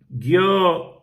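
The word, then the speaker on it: Gyökeres: You know what I'm like with pronouncing names. It's Gyokeres.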